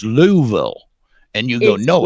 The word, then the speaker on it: Louisville: Is it Lewisville or Louisville?" And they'll go, "Well," they they'll go, "It's Louisville."